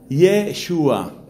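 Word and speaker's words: ישוע: principio, porque resulta que el nombre Jesús, que en griego se escribe Yesous, Jesús en griego, en hebreo se dice Yeshua, y Yeshua significa Yahvé salva.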